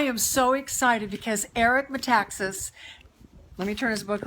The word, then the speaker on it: Metaxas: let me try again Eric Metaxas is that right that's exactly right Eric Metaxas Danny I have figured out how to say his name right but that's not what's